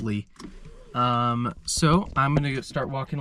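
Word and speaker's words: Leigh: at String Lake and Lee Lake. So I think that's how you pronounce that. It looked like it's pronounced Lee.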